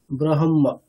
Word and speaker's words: ব্রহ্ম: যদি হকারটাকে করি হকারটা অটোমেটিকালি কন্ঠই থেকে যাচ্ছে ব্রহ্ম তাই না কিন্তু হকারটার উচ্চারণ স্থানটা হৃদয় কখন হবে যদি আমি আগে